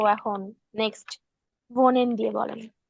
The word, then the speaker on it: wohnen: আচ্ছা, ডু হ ওন, উচ্চারণ হবে, কারণ এটাকে আমরা ভে বলি, ডাব্লু কে আমরা ডয়চে বলি ভে, তো হচ্ছে ভোনে, ইস ভোনে মানে একটু বাজবে মুখের ভিতরে কথাটা, ঠিক আছে।